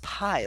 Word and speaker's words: pi: uh very nice and it's pronounced pie like the dessert how great anyways um